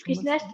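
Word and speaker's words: Frischknecht: Frischnecht avant, je ne sais plus comment on prononce, mais Ouais, c'est juste Frischnecht, ouais.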